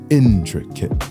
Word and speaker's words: intricate: poetic foot for example the word intricate has a pattern of stressed unstressed unstressed intricate the word tomato has